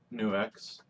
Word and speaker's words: NUX: I have my NUX, yes, it's pronounced NUX, wireless cable system, along with some pedals to demo.